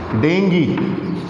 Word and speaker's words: dengue: become the cause of serious diseases that is dengi d-e-n-g-u-e it's not dengue it's staying clear in